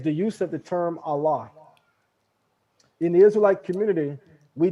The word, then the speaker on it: Allah: hear them say allah they don't pronounce it with a kamatsu pataka that that ah they pronounce it with the sego they say allah and law so mind